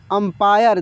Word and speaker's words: अंपायर: अंपायर, अंपायर। देखिए यहाँ पे इस बिंदी का उच्चारण म के रूप में हो रहा है।